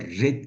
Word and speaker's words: read: fiilin ikinci hali de read diye yazılır ama Red diye okunur okumak demek Eee ne